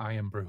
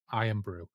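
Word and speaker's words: Irn-Bru: any concept of what iron Brew is no right iron Brew is Scotland's favorite soft drink it's spelled i n Bru iron brew and the adline back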